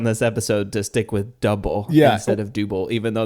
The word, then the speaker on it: Dubbel: he said it is the way we pronounce it is exactly how it's spelled so if you just say double and I believe actually